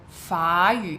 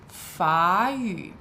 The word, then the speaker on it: 法语: So I don't know if you noticed there, I used a second tone for 法语, and that's because of the tone change rule.